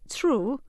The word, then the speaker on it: through: is silent or in the word through th ro ug H has lots of letters that are silent all the students and